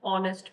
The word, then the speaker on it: honest: My father is an honest man. O नहीं है, but remember H is silent.